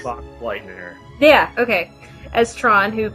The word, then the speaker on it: Boxleitner: I don't know how to say his last name. Bruce Boxlight. Oh, Bruce Boxleitner.